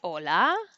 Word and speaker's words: hola: for g and g now the aceh is silent so i'll ask them do you know how to say hello in spanish and they usually know how to say that hola and i'm like do